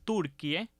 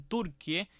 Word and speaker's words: Turquie: que usemos la grafía turquie que por cierto se pronuncia así como escucharon turquie y no turqui que no es ni